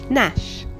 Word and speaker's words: gnash: dog started to gnaw on the bone nor Nash the monster began to gnash his teeth Nash